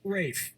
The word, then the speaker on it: Ralph: finds first name is felt like Ralph but pronounced rape and his brother Joseph Joseph but it's cssf a.m.